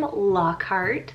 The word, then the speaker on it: Lockhart: totally for you so this is the name lockhart spelled l-o-c-k-h-a-r-t and it's germanic meaning strong lock